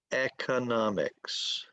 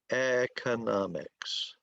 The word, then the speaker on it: economics: people in America say economics. Economics. Some people in the United States say economics. Economics. And they're both correct. It's just that different people talk differently.